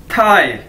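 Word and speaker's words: tài: इस वीडियो में हमारे पास पहला वर्ड है थाई, टी ए आई थाई। Chinese के अंदर हम जानते हैं कि टी को थे के तौर पर प्रोनाउंस किया जाता है, ठीक है, थे की तरह।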